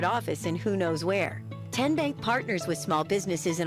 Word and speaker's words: TN Bank: this 30 second timeout how do you say the name TN Bank nope tin bank uh-uh so what is it 10 Bank 10 as in Tennessee right here where all